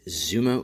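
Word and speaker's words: Xumo: ok so first up is Zuma TV and I'm probably mispronouncing that but it's spelled Xu MO and like I said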